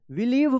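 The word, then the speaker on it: believe: बिलीव देखिए यहां पे आप देख सकते हैं कि यहां पे क्या है कि आई और ई एक साथ लिखा गया है ना यहां पे? देख रहे हैं ना यहां पे एक साथ है तो इसका इ उच्चारण होगा।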